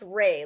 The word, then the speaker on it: Ralph: So he told me it looks like it's spelled Ralph, but he said it's pronounced Ray, like Ray Fine.